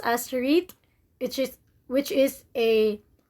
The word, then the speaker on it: REIT: is real estate investment trust or rets or pronounced as reit which is which is a special type of